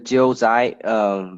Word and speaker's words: Jiuzhai: yeah, and this called the Jiuzhai Valley. And then is to spell that out is Jiuzhai.